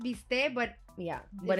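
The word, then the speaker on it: bistec: the team the team the term mistake it's pronounced be stay but yeah but it's spelled mistake and we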